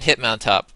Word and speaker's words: Hitmontop: So now he's going to bring in Hitmontop.